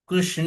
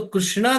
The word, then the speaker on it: कृष्ण: अब आप कहोगे स्पेलिंग गलत है ना, कृष्ण यही है, एक की क्या जरूरत है आपको। अब रामा नहीं कहते ना, RAM कहते हैं ना। तो कृष्णा क्यों, कृष्णा नहीं है वो कृष्ण है, कृष्णा नहीं है।